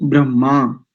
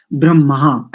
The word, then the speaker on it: ब्रह्मा: अध्वरयु उद्गा और ब्रह्मा इस शब्द का ठीक उच्चारण करें प्राय करके अधिकांश लोग इसका उच्चारण करते हैं ब्रह्मा ऐसा कहते हैं ब्रह्मा ब्रह्मा ऐसा हा पहले है इसमें इसको अगर अलग अलग करेंगे अक्षर विन्यास से देखेंगे तो इसमें ह पहले ब मा बाद में ब र यानी